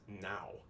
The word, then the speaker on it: não: But in Portuguese, it's now, which it's pronounced the same way as N-O-W in English, like now, right now.